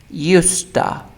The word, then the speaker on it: used to: this structure just pronunciation at the beginning of the sentence or in the middle of the sentence we pronounce usta used but when the word is at the end at the end we pronounce used to use for example uh